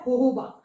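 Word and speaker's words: jojoba: आपको ये जोजोबा लग रहा है JOJABA, लेकिन इसकी प्रोनाउंसिएशन क्या है? होहोबा।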